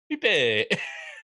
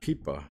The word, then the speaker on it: Pipa: Pipe. And she started laughing like crazy because I pronounced pipe Pipe. It's Pipa. Pipa. Pipe Decor. In Spanish, it's Pipa.